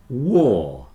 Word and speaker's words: war: with third and bird War another one where the W is affecting the pronunciation normally the a r is pronounced R like car but with the w it's pronounced or like poor so remember when there's